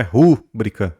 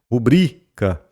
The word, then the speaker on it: rubrica: é íbero mas ibero não é rubrica mas rubrica beleza não é áo mas